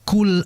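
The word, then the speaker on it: قل: Sehingga jangan sampai kita membaca qof di situ dengan disertai desisan yang jelas. KL kul tidak. Yang betul qul qul.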